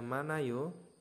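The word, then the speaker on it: 많아요: manayo itu ada banyak Nah ini heat-nya ini tidak di tidak dibaca ya ini kan harusnya manayo Nah teman-teman kan seperti ini nah ini tidak berlaku jika hiat-nya nah hiat ini berfungsi sama seperti ieng Jadi kalau misalkan ada hiat atau ieng ya pajimnya itu naik ke atas seperti itu jadi menggantikan yat-nya ya menjadi manayo jadi manayo seperti ini nomor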